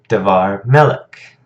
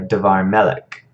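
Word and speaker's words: דְּבַר מֶלֶךְ: Davar Melech. So notice this one, it's just pronounced a little more quickly.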